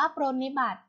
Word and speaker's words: ปรนนิบัติ: ไป ค่ะ คำ ว่า ปรนนิบัติ ปรนนิบัติ อ่าน ว่า ปรนนิบัติ ปรนนิบัติ ประกอบ ไป ด้วย ป